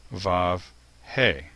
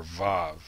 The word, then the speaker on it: ו: In modern Hebrew, the sixth letter of the alphabet is the letter vav, which has a v sound. however, can also take on the O or the U vowel sounds. There is some controversy over this and that there are those who believe that in ancient times, this letter was the letter W and had a W sound along with the O and the U.